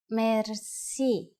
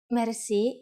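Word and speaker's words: мерси: will be amazed which word that is merci merci merci is a lone word from french but it is pronounced with the typical bulgarian heart are it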